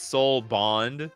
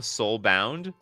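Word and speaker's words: Soulbond: can have a threesome it's it's Soul Bond nikachu you said it wrong oh is it oh you're right is Soul Bond different from Soul bound or or was it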